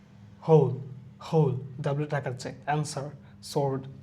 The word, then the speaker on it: Sioux: রং, হু, এখানে কিন্তু pure H উচ্চারণ হচ্ছে হু। Whole, W টাকাচ্ছে, answer, sword, two, এটা আমাদের অনেক চেনা।